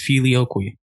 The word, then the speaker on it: filioque: And, you know, that brings us to the Middle Ages and filioque, which I cannot believe it's said like that. I looked it up, but it's filioque.